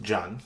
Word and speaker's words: Can: It's spelled Can but pronounced Can because it's a Turkish name.